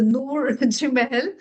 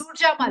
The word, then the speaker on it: Noor Jamal: I'm not able to pronounce the Noor Jimel. I'm so sorry for that. So, could you please help me in pronouncing that name? It's Noor Jamal. Noor Am I Jamal. right? Yes, Noor yeah, Jamal. I'm right now. Noor Jamal. Yes. I don't want to read anybody's name wrong. That's why I'm a little conscious about it. Noor Jamal. Yes, you're right.